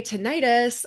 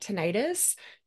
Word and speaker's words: tinnitus: Okay, tinnitus or tinnitus, depends on how you say it.